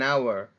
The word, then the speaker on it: hour: an apple an elephant an umbrella or an hour because the edge is silent so this is more example to show